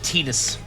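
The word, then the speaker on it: Tidus: Said Tetus. That's the official pronunciation.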